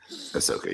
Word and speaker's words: Ahsoka: three others it's like ridiculous Ahsoka is that pronounced sorry Ahsoka yeah so uh um N I think a